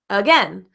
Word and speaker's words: again: represented with an O I also mentioned the word again uh uh again again starts with in a in a vowel but you can see that this a vowel sounds like uh the schwa sound in the word